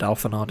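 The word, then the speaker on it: Alphinaud: I refuse to believe that D is silent. I don't care that the French language exists.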